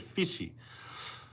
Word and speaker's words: Fiji: But we wouldn't pronounce it with a J, because there is no J in the Tongan language. They would have said fishy.